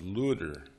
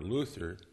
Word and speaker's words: Luther: even more important to his name in German was looter LUT ter or lu d de r he pronounced that Lu th gr or Luthor punning on the word for freedom in greek l lu serious his whole witness